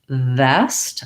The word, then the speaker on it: vest: feel any connection there versus vest i should feel my upper teeth and lower lip and that sound continues